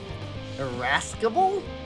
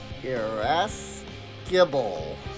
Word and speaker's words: irascible: Irascible? Irascible. Irascible. Irascible. Oh, yeah, of course. You wouldn't pronounce the C, because the C is with the S.